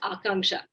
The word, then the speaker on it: Akanksha: Actually, it's pronounced Akanksha. Akanksha. It's a Sanskrit word. It means ambition.